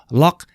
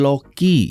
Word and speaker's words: LOQ: Oke Lenovo log 15 log ya bukan Loki ya ini lock bacanya mari kita mulai dan